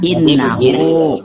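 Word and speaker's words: إنه: Itu domah. Kalau domah dibaca u. Tak input input manual gini Bang gini pang kamu ada fathah ada kasrah ada domah bukan wau maksudnya maka itu dibaca innahu Bang kalau saya kalau kitab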